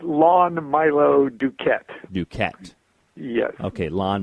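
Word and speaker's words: Lon Milo DuQuette: right well I like to hear it said lawn Milo Duquette you can't yeah okay lawn Milo do cadets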